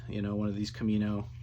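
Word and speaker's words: Kaminoans: know one of these camino um cam and owens is how you pronounce it so i decided to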